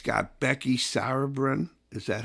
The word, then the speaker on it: Becky Sauerbrunn: At the fifth grade center, it's got Becky Sauerbrunn. Is that how you pronounce it? Yeah. Becky Sauerbrunn Field.